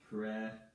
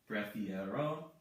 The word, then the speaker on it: prefiero: So we have prefiero, prefiero. The E from the infinitive form becomes an IE in the yo form. Prefiero, I prefer.